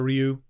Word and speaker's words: Ryu: I know we fought about it when we were kids, whether it was Ryu or Ryu. And it's neither of those things. So, total fail. Worst pronunciation ever. It's Ryu. Ryu.